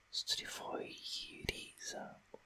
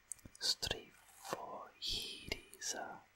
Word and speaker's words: στριφογύριζα: Έκλεισα σφιχτά τα μάτια μου για να δει η μαμά πόσο καλά είχα κοιμηθεί εγώ που στριφογυρίζα. That last bit was not good. Που στριφογυρίζα. Syllable by syllable. Στριφογύριζα.